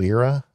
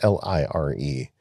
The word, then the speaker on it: Lire: Yeah, another one that I looked at was called Lyra. I believe that's how they pronounce it. It's Lire, and it's a $10 a year subscription.